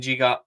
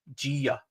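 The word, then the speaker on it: Djiga: Yeah, let's talk a wee bit about NASA and Giga. Actually, online, it's pronounced Gia, apparently.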